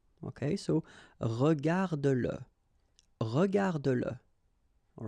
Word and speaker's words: regarde-le: like in that case, then you will have to pronounce it. Okay, so regarde-le, regarde-le.